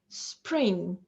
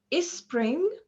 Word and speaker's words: spring: spring spring okay so uh here we have like a consonant cluster s and pa so we have to pronounce them without any intrusive vowel sounds in the middle so uh not before them uh neither before them nor between them so we don't say is spring okay no sp or